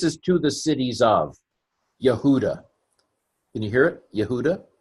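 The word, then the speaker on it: יהודה: Kamatz, Hey is another vowel, 1-2 punch. It's just pronounced ah. We ignore the Hey when it's the last letter with a kamatz.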